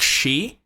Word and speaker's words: she: In English, you'd say like she, so that's a very harsh sh sound, like a sh sound, right?